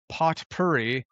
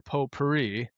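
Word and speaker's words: potpourri: Um, this week we're going to talk about a pot purie or po purie depending on how you say it.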